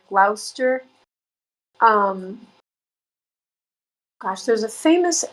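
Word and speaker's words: Gloucester: The other what is the other town in England that I'm like there's Glouester, which looks like Glowchester. Glouster.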